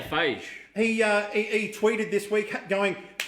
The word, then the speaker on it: Feig: Well, just quickly letting you know that how do you pronounce his name? Paul Feig? Paul Phage. I say Phage.